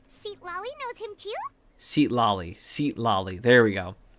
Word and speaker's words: Sitali: By the time Sitali... Gosh, I feel like I keep saying that name wrong.